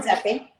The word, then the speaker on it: Redzepi: How do you pronounce it, from Rene Noma? Redzepi.